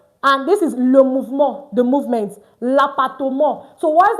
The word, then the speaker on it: mouvement: ends with MENT, and we said MENT is pronounced as mo, not meant, like in English. So in English, this will tell you moment, but in French is moment, le moment.